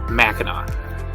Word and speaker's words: Mackinac: Whether Mackinac is spelled with a C or a W, the pronunciation is always the same, Mackinac.